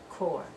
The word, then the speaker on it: corps: diplomatic corps so diplomatic corps that p we don't pronounce diplomatic corps so the diplomat practices